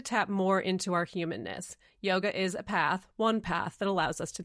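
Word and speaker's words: योग: It's just yog there's no a.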